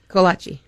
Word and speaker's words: kolache: Kolache. Oh, see, where I come from, it's Kolach.